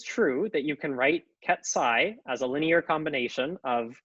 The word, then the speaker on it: ket: out this Vector so I'll pronounce this Ki by the way that's what that character is Ki you might think that